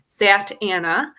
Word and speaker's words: Zatanna: dc characters more for kids so this is zatanna in the house of secrets so in the dc universe actually it's pronounced sat anna they make a point to say this in